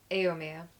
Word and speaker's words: Éomer: How do you pronounce his name? Éomer.